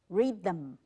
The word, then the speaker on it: rhythm: 无音呢？Rhythm，rhythm，后面的 m 有念出来，them th 也念了，rhythm，那 y 念成 i 的音，所以这样推过来是谁没有念呢？啊，h 没有发音。